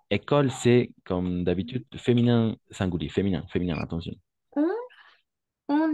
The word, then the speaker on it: singulier: On va prononcer masculin, singulier.